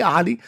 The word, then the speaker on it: Ali: want to call me ali great for you now my parents pakistani muslims indians as well call me ali that is like almost spelled u-h-l-i and the last name